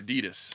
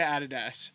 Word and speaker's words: Adidas: Nike or Adidas? Nike. Nike, yeah. I do love. Oh, again, Adidas. We say Adidas.